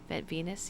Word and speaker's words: venous: I was going over venous deficiency. Am I saying it right, Burt? Venous deficiency. Venus, yeah, V-E-N.